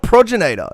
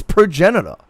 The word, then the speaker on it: progenitor: It's not progenator. It's progenitor.